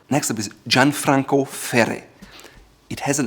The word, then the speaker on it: Gianfranco Ferré: but it's Italian, and the R here are pronounced at the front of your tongue. So it's Gianfranco Ferré. Gianfranco Ferré.